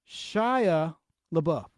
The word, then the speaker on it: Shia LaBeouf: Shia LaBeouf is pronounced Shia LaBeouf.